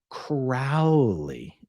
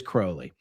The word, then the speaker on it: Crowley: his name correctly um most people say incorrectly Crowley it is Crowley all right Kim Kim